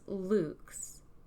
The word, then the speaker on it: LVX: x the true symbolism for the light it's pronounced Luke's because it's a lot Latin for light and